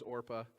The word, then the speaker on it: Orpah: of the daughters-in-law her name was Orpah not Oprah although little sidelight Oprah's real